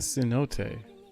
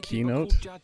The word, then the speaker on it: cenote: So he just called it the cenote. And didn't other people pronounce it keynote?